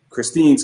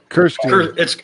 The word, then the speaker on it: Kirstine: you know, I think Christine's coming out, or Krista's coming out, or I'm getting the name wrong. Kirstine. It's Kirstine with an R. It's Scottish. Perfect.